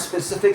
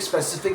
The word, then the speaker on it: specific: Specifically specific itself sometimes mispronounced as specific with a SP sound uh softening into a P sound. Practice the crisps per SP at the front specific specific specific keeping that initial consonant cluster clear and distinct because this word comes